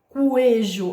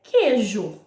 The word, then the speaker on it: queijo: E eu não tenho coejo, é queijo, ok?